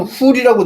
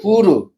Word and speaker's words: 후르: 그다음 계획성에는 후이라고 돼 있는데 그건 한음절이잖아요. 한음절이 아니고 두음절이에요. 후르.